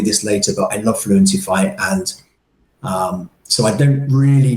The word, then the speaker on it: Fluentify: So let's talk a little bit more then about Fluentify, and I have it right. Is that right, Fluentify? Yeah, that would be the American pronunciation, I'm sure. Yeah, Okay. us Brits, we would say fluentify.